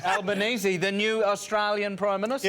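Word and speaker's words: Albanese: flang names y Anthony I believe you pronounce it albanesi the new Australian prime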